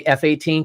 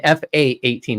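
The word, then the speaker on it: F/A-18: to have a talk don't say F-18 it's an fa-18 it's a fight attack 18. I hate it when people say it wrong sorry I'm former U.S military say it right but yeah that that's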